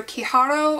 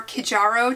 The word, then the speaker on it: Kijaro: to mispronounce this but it's either kiaro or kijaro chairs it's k i j a r o and of course I